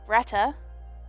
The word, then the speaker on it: Grethe: we met Dahlia and Greta whose name I believe I was pronouncing incorrectly I think she's one of those cases where th is pronounced like a ta either way she quickly